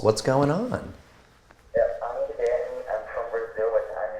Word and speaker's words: Guilherme: My first name is Guilherme. How do you say it? Guilherme. Spell it out for me.